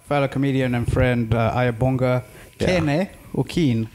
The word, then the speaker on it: Ayabonga Kene: joined by uh fellow comedian and friend uh aya bonga okeen how is it pronounced you however talk no how is the